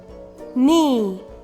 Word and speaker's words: knee: silent in these words k n sounds um not knit knee knife knock the letter k is silent g n sounds um